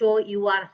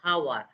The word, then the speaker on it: hour: You see in here our and honest, the h remains silent. The h sound doesn't come. The h. Think of the sound of house. H. We never pronounce h o u r how.